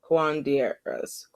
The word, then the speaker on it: curanderas: And then for our kings, it's I'm gonna mispronounce this name. Curanderas. There we go. Curanderas.